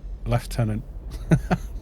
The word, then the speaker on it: lieutenant: do the british say lieutenant i don't i say lieutenant now well there we go so lou and laugh uh pronunciations are both correct australian english yeah how